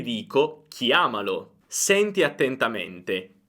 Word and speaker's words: chiamalo: diretto lo e dico chiamalo. Senti attentamente. Chiama, chiamalo. Guarda, l'accento non si sposta, l'accento è fermo su chiama.